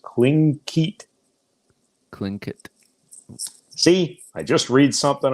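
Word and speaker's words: Tlingit: Tigleet is pronounced Klinkit.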